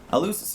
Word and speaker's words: Eleusis: I always forget how you pronounce it. Eleusis, yeah.